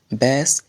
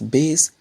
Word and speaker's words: bass: it is pronounced as bass it means a type of fish and when it is pronounced as Basse it means an instrument of Music the third and last